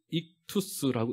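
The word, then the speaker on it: ΙΧΘΥΣ: 이거 뭐라고 읽습니까, 여러분? 예, 익투스라고 읽습니다.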